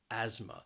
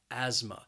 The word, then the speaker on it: asthma: say they have asthma the word has two syllables and the stress is on that first syllable that second syllable has that schwa again that uh sound asthma and again this word the spelling may not match up with the pronunciation because that a-s-t-h it's really pronounced as just like as like an a-z sound as asthma then we have the